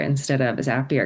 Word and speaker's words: Zapier: So that's why it doesn't have the double P, but that's why people often pronounce it Zapier instead of a Zapier because it doesn't have the double P like happier.